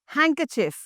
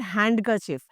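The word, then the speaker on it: handkerchief: Food it is sandwich not sandwich sandwich next हैंकरचिफ। हैंकरचिफ नॉट हैंडकरचिफ।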